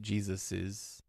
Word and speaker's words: Jesus's: with no apostrophe s, most people pronounce it with an extra ez sound at the end. Jesus's.